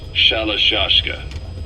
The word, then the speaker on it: Shalashka: known about that because somewhere along the line shoshka got stuck on the end of shiroshka the gorillas were using the name amongst themselves and by the time I got to hearing about it pronunciation had wound up as shalashka so half Gulag have